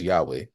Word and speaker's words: Yahweh: So again we pronounce it as yo many people pronounce the name of God as Yahweh.